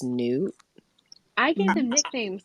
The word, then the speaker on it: Nut: I saw someone in the tag say that Nut is actually pronounced Newt.